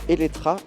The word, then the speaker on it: Eletre: Visuellement, l'élétré que l'on prononce Elettra impressionne par ses proportions, ses lignes et son look.